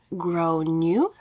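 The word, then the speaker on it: Gráinne: kid is called grain generally pronounced as grow new or thereabouts I tried to be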